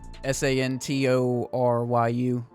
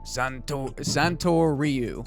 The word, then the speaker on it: Santoryu: Santoryu. Zoro's Move. Yeah, Santoryu. Santoryu, like Ryu from Street Fighter, right?